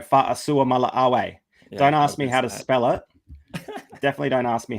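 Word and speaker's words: Fa'asuamaleaui: Yeah, that is Tino Fa'asua Mala'awe. Don't ask me how to spell it. Definitely don't ask me how to spell it, but Tino Fa'asua Mala'awe.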